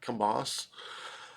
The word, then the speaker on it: Kambas: I'm pronouncing that correctly I believe the B is silent Kamas uh um he's a